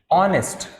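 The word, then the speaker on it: honest: my father my father was ऑनेस्ट क्या बोलेंगे इसको माय फादर वाज ऑनेस्ट ये एच है तो वहां पे ह प्रोनाउंस नहीं होगा ऑनेस्ट होगा क्या बनेगा इसको हम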